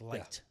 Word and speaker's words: Liecht: Uh, light. By the way, the E is silent, right? It's light. Yeah, just light like Yeah, just like you got it.